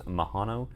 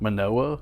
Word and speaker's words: Manoa: Definitely not Mahano. Mahano. Mahano. Manoa. Manoa. Mahano. Manoa. That's a N, not a H, but it is Moa.